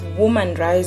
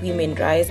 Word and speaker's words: Woman Rise: It's Woman Rise, not Women Rise.